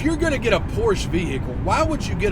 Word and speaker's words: Porsche: My thing is like, anybody that gets a Porsche or a Porsche, first of all, I'm not saying Porsche. It's not spelled like that.